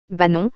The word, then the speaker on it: Banon: nom propre germanique benno bah non en vivaro alpin et en provençal se dit et s'écrit banon dans la norme classique et banoun dans la norme mistralienne trois éléments principaux expliquent